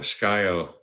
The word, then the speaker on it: Scio: spell it it's a it's a tribal name s-c-i-o sky-o um i think it's pronounced scio but i've heard it that's one